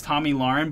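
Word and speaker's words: Tomi Lahren: pronounce her name right it's Tommy Lauren but it spelled like T Oh am i lah re n so it's kind of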